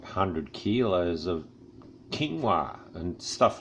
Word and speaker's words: quinoa: good grains things like quinoa I don't used to call it corn or until I heard it said on the by someone that knew how to say it probably quinoa that's that's really good